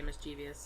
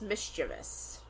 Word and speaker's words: mischievous: Some people say mischievous and well and so I was like, why do I say it that way? Because if you look at the word, it is not spelled like that.